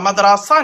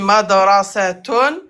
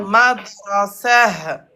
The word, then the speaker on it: مدرسة: Madrasa n'existe pas. Soit on dit madrasatun, soit madrasah. مدرسة.